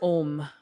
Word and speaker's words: Om: you break it down the sound ohm is actually three syllables of AA and MA and so what happens really